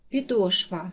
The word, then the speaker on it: підошва: падає на другий склад підошва наголос падає на другий склад